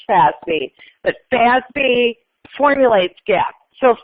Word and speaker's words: FASB: The Financial Accounting Standards Board, always pronounced Fazby, but Fazby formulates GAP.